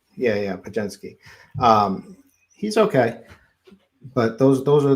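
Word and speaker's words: Podziemski: Help me out with the pronunciation. I always go to beer. He's a Wisconsin boy, so I know this one. Pajemski. Yeah, Pajemski.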